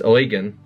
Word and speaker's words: Eugen: It has always seemed strange to me that a man named Eugen," she pronounces this Eugen, "would be the director of such an institute.